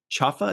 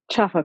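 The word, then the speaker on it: Chafa: Marvel's Echo first episode pronounced chaffa is that right chaffa correct great what a relief uh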